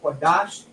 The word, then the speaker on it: Qadash: It's still pronounced Lashawan. We have a Kwa, a Da, and a Sha, Qadash.